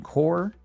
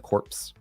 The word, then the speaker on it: Corps: Tech, at Retro Tech Dad, at Retro Game Core, or as somebody who's pointing out they didn't understand what Retro Game Core mean. Why am I not pronouncing the corpse?